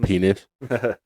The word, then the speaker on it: Penix: It's pronounced penis.